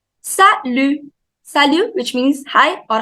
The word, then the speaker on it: Salut: Salut. Salut. Salut. T is silent. Salut.